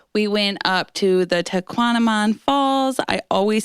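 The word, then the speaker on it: Tahquamenon: We went up to the Tequanamon Falls.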